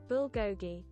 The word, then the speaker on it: bulgogi: Oh, bulgogi. I need to pronounce that properly. No, not slow. Just tell me. Bulgogi.